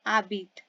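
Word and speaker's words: habitez: त्यू में ई S then he में इल आबीत एच ए बी आई टी E then she lives L E double L ई आबीत we lift तो इसमें क्या आएगा न जाबितो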